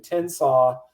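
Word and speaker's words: Tensas: is the home of tennsaw river national wildlife refuge and tinsaw despite the pronunciation is t-e-n-s-a-s though it sounds like slaw uh and that's where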